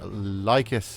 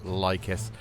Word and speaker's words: Lhykhis: in our usual fashion lus is now finished pretty certain at this point that it is pronounced lus and well I really